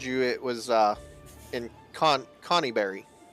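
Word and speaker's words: Conyberry: She told you it was uh in conny berry. Connieberry. Okay. Is that literally spelled like Connie Berry?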